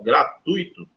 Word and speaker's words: gratuito: a palavra rubrica Beleza então olha só gratuito não é um iato então ele não pode ser acentuar beleza aqui eu tenho que um de tongo se eu fosse separar a palavra gratuito separaria assim ó Beleza então seria aqui um ditongo não é um i não fica sozinho portanto não é acentuado beleza pessoal essa palavrinha